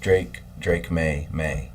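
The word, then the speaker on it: Drake Maye: It's actually pronounced Drake May.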